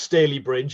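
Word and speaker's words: Stalybridge: for that kind introduction it's pronounced staley bridge it rhymes with gravy but don't don't worry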